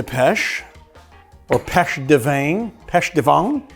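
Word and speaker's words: pêche de vigne: Pêche de vin. How do you say that in French? V-I-G-N-E. Pêche de vin. Pêche de vin. Peach from the vine.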